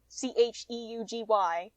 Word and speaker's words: cheugy: So that one's like not traditionally, because I can't pronounce this word. Cheugy apparently Chugi.